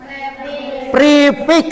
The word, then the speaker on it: prefix: Prefix. Prefix ditulisnya pre, dibacanya pr prefix awal.